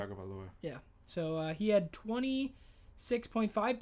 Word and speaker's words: Tua Tagovailoa: Joe Burrow with 25.6, or 26.6, and then Tua Tagovailoa. Is that how you pronounce it? Tua Tagovailoa.